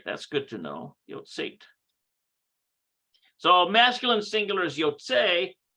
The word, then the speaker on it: יוצאת: Yotzeat. יוצאת. There's no ah sound under there. No ah sound. It's just simply Yotzeat. All right, that's good to know. Yotzeat.